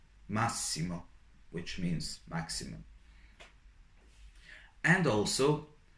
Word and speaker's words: massimo: But if you have a double S or doppia S in a sentence, you read it as S, S, like in massimo, massimo, which means maximum.